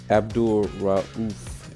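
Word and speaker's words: Abdul-Rauf: But these guys here, Ralph, I can't Abdul Rauf is how you say it. I always, when I actually try to pronounce, I hear it so much, but when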